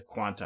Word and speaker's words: Qan[T]: Sometimes the Quanta, I apologize. Sometimes it's also just pronounced Quant without the A at the end. But I think the more acceptable or correct pronunciation is the Quanta.